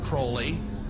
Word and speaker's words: Crowley: he likes to bring have his name pronounced crowley to rhyme with holy and the satanist today